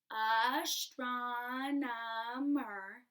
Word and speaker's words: astronomer: watch out for it ready astronomer astronomer four syllables and you get to